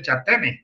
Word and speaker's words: Jatene: O lo van a encontrar también como a mí me gusta decir el nombre, la operación de Yatene. Se escribe Jatene.